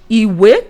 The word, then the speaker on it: ìwé: So in ìwé now we have do mi ìwé.